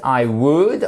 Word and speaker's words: would: pour aller plus vite would on ne prononce pas le l très important i would like bread